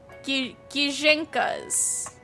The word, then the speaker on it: Gijinka: I loved drawing Ginjinkas like a Pokemon. I'm also saying it wrong. Gijinkas. Gijinkas. Yeah. Gijinkas. I'm gonna go with that. We're gonna stick with Gijinkas.